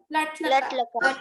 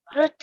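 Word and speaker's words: लृट्: रुट लकार। हाँ, वो तो आपको प्रोनाउंसिएशन नहीं आया अभी तक। लुट लकार, लुट लुट लुट लुट लुट लुट नहीं, लुट लकार, ठीक है।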